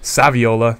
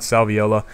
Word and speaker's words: Saviola: it all weird but it is saviola not salviola I did pick up